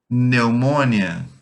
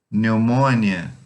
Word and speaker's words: pneumonia: Pronúncia dessa palavra pneumonia: pneumônia, pneumônia, pneumônia.